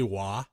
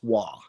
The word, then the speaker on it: Waugh: Did you say Wah? Yes, Waugh. Like W-A-H? No, W-A-U-G-H.